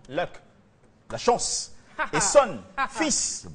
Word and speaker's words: Luxon: s'appelle à l'état civil Luxon en anglais c'est Luc qu'il faut prononcer correctement luck la chance et son